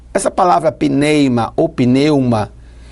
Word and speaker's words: pneuma: é essa no grego ela é pronunciada mais ou menos assim pneimo pneuma ela vem do grego